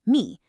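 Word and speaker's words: מי: In Hebrew, it's just 2 little letters, me, pronounced me. Simple, right?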